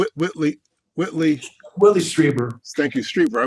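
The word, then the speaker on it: Strieber: whitley willie thank you streetwear i want to call him striper all the time but that's not right it's okay and one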